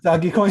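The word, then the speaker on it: Dogecoin: um or or maybe dodgecoin at this uh point dutch coin uh whatever however it's pronounced um but doggy coin doggy coin there you go uh like like cuban puts it right um um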